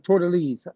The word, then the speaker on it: Tordesillas: Everybody, I don't give a damn, Dutch, French, Spanish, Portuguese, know that this area called Brazil, based off the Treaty of Tordesillas.